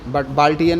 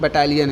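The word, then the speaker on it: battalion: ये वाला याद रखना, महिला बटालियन, बाल्टियन नहीं है, बटालियन है, सॉरी प्रोनाउंसिएशन गलत हो गया, बटालियन है ये, इसको बटालियन बोलेंगे।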